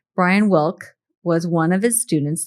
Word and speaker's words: Wilke: Brian Wilke, I guess the E is silent. Brian Wilke was one of his students there, and Chef Dan apparently made a lasting impression on him.